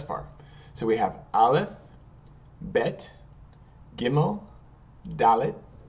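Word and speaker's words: ב: remember bet SL vet if there's a dages or a dot in the middle it's going to be pronounced with the B sound but bet and if there's no do dot in the middle it's going to be pronounced with the V sound vet okay all right so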